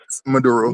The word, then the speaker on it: Maduro: Major Nicholas Maduro Nicholas Maduro Maduro Trump put out a warrant on him back in the 2020.